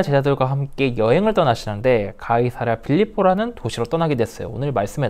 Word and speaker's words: 가이사랴 빌립보: 예수님은 아까 얘기했던 대로 제자들과 함께 가이사랴 빌립보라는 도시에 이르렀어요. 이거는 우리식으로 하는 발음이거든요. 이거를 로마식으로 하면은 카이사리아 필리포스라고 하는 곳이에요.